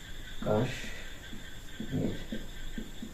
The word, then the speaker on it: কাশ্মীর: তো 4 নম্বরে আমরা লিখতে পারি যে কাশ্মীর। তো এখানে এই স্ববর্ণর সাথে ম ফলা যুক্ত আছে, তো এটার বানান হবে কাশ্মীর। ম ফলা উচ্চারণে বহাল থাকবে।